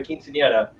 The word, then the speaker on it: quinceañera: There was a quinceañera.